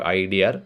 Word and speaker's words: idea: So sometimes in the Indian accent, people tend to add the R sound at the end of idea. So idea, I have a fantastic idea.